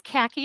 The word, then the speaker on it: Khaki: Hi, my name's Khaki. It's pronounced like the color, and it's short for, in case anybody want to know.